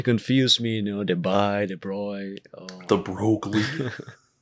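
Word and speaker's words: Broglie: Yeah, the names start to confuse me, the bi, the broy. The Oh. broccoli, Yeah, it's literally spelled like the broccoli. the broy, or something like that.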